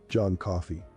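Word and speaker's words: John Coffey: crying poor Jon coffee John coffee yes sir boss like the drink but not spelled the same I'm tired boss tired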